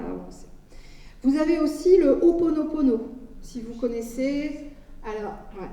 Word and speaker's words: Ho'oponopono: Vous avez aussi le Ho'oponopono, si vous connaissez.